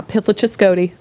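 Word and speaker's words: Pithlachascotee: Pithlachescody.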